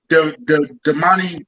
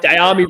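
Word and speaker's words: Dyami: Damani Brown? Damani Brown? Yeah, Diami Brown.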